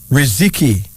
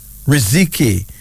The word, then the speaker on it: Riziki: Then there's Riziki. Riziki.